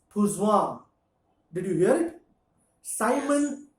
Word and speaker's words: Poisson: बट लेट me tell you, this guy was French, तो in French they pronounce things differently. So I saw. if you go to pronounce this, it becomes Pouzouin.